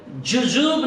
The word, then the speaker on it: jujube: मैं बताना चाहता हूं, ये जो कांटे निकाले गए थे, ये जो पेड़ है, जुजुब नाम के पेड़ से ये कांटे निकाले जाते हैं। तो जुजुब, अगर इंग्लिश में स्पेलिंग देखने से JUJUBE, ये जुजुब नाम के पेड़ से ये कांटे निकाले जाते हैं।